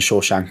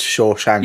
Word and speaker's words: Shawshank: And I know it's like we live in a post Shaw Shank world, but like it's not like it's a complicated world. It's two syllables.